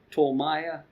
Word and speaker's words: Ptolemy: And it meant son of Ptolemy. That's how you pronounce it.